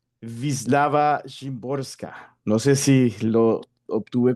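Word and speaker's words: Wisława Szymborska: Nos adentramos a la poeta polaca e Wislava Shimborska, eh cuyo nombre pues lo indagué en internet cómo se pronunciaría en polaco y es algo así como Vislava Shimborska.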